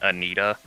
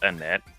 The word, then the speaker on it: Annette: I feel kind of bad because that whole gym battle, like with that one trainer, I kept saying Anita for the person whose name was actually pronounced Annette.